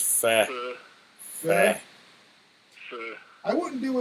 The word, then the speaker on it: pho: The pho, the PHO. That It's pronounced fat.